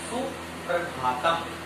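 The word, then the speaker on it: सुप्रभातम्: ठीक है, जैसे सुप्रभातम, सुप्रभातम, कई बच्चे जो है इसको सुप्रभातम बोलते हैं, सुप्रभातम बोलते हैं, ये शुद्ध शब्द है सुप्रभातम।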